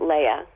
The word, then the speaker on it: Leah: Leah. Leah? Leah. Well, she actually pronounced it Leia.